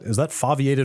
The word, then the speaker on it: foveated: Is that foveated or foveated? Foveated rendering. Foveated. Yeah. Is that how you pronounce it? Yeah, because they're talking about the fovea, which is that center part of your retina.